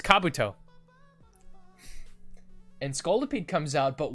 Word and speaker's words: Kabuto: How do you say Kabuto? It's Kabuto.